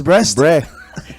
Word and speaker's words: Brest: Well, it's Brest.